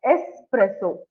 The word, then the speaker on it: espresso: pronounce this espresso yeah espresso so there is only one s okay but there are two okay so when you're pronouncing it you have say it as espresso okay espresso okay okay